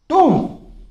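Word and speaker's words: tomb: क्या बोलते हैं टूम, इसमें बी साइलेंट रहता है, आपको सिर्फ बोलना होगा टूम, टूम नहीं बोलना, टूम बोलना है।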